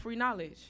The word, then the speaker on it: Free Knowledge: so I'm giving out free knowledge. Nice. Free with the K is silent, so that's how I got my name."